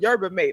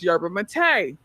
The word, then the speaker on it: yerba mate: I always said yerba mate. I found out that it's yerba mate. Who who the knew that? Who said that? Found out it's yerba mate.